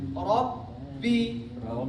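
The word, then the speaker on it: رَبِّ: Nah, ketika kita tasydidkan Rabbi, Rabbi, temponya segitu. Rabbi. Jadi bukan Rabbi, Rabbi. Nah, tapi Rabbi. Ya, tahan dulu sedikit baru lepas.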